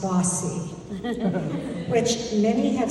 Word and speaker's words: BAWSI: The acronym BAWSI is pronounced bossy, which many have said perfectly describes its founders.